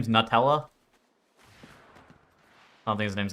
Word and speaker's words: Nutella: Nutella. Yeah. Well, it says Nut Ella. It's not new. That's definitely not how it's spelled.